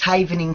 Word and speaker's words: havening: And am I mispronouncing it? What is havening technique? Am I saying that correctly? Yes, that's correct. It's havening technique.